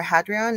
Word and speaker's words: Hadrian: Roman Emperor Hadrian, I think it's Hadrian or Hadrian, it's Hadrian, was traveling the Nile when his young Greek lover, Antinous, mysteriously drowned under freakishly calm waters.